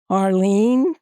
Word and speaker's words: Harlene: Harlene, 2 syllables.